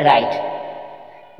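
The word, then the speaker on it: write: चाइट, पाइट, आइट, आइट, डब्ल्यू आर से पहला W silent है इसलिए राइट।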